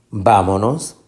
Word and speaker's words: vámonos: Lleva tilde, vámonos. Esta es la sílaba tónica.